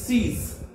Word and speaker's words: six: same English and French but the pronunciation is C's SIX pronunciation C's 7 SEPT SAT SEPT SAT 8 HUIT with HUIT with 9 NEUF NAF 9 NEUF NAF and 10 DIX this.